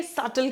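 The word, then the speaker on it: subtle: इसको सबल नहीं बोलते हैं। ठीक है? सल कहते हैं। बी साइलेंट है।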